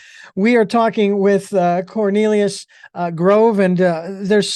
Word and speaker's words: Cornelius: all of a sudden well you got the first you got the first syllable there and it's it's significant that one of my favorite vegetables is corn thank you for your uh it's Cornelius Grove ladies and gentlemen